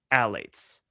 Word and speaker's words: phthalates: Phthalates.